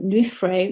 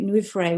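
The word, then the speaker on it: llwyfre: i've got a website myself which is um nuffray new frey which is a um a welsh word so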